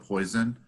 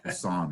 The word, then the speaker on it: Poisson: at a distance usually I make my students pronounce that most students call it poison but it's as on is the right pronunciation during a typical hour